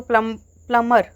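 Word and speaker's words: plumber: वन who repairs leaking water pipe को प्लम्बर, इसमें बी नहीं आएगा, बी साइलेंट, प्लम्बर बोलते हैं इसे, प्लम्बर नहीं बोलते, प्लम्बर बोलते हैं।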